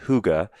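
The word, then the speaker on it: hygge: in their culture called Huga and I think it's spelled h y g g and it's pronounced Huga and there's no direct translation to English but it's this concept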